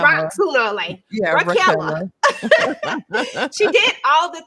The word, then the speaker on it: Raquella: What you say her name is? Ashley Raquella? Because I've been calling her Raquel like a man. She gonna be Raquel. rock sooner or later. Yeah, Raquella.